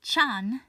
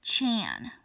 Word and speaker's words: -chan: Look, Ruth, I personally don't care how you pronounce Amy-chan's name, because Chan is from Japanese, and it's normally pronounced Chan, kind of with an accent, not Chan, like in English.